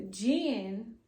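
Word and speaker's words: djinn: Okay, so baby, let me tell you, he was the jinn, and the jinn is spelled D-J-I-N-N, and it's plural.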